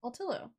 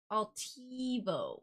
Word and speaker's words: Altivo: Altillo. Altivo. Altivo. I was like, there's a V in there.